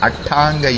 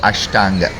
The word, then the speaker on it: Ashtanga: yoga where he describes atanga yoga which is the Tam equivalent of Ashtanga we don't have the ish sound in Tamil so it is called atang and there are some slight